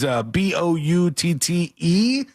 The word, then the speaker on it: Boutte: But I think it's supposed to be like some sort of French pronunciation or something. Yes. Yeah. But the guy's name is Boutte. So like Boutte. Boutte. It was something like that. Not like this. He grabbed booty. That ain't right.